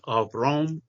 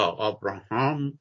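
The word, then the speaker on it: Avraham: آوراهام بورگ، حالا در تلفظ ییدیش آوروم یا آوراهام یا همون ابراهیم، فرزند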